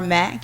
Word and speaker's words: Mc: mercy of love and Homer h o m e r Mac pronounced Mac but it's MC so if you do